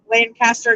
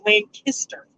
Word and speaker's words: Lancaster: pronounced right and kister lynn kister because we mispronounced that we kept calling elaine pastor like the lancaster in california and we got we got corrected it's lancaster and pam said i can relate and mike